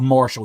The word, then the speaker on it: Marshall: QT Marshal as he's pronounced it's it's spelled Marshall it's pronounced Marshal if that's his real like that's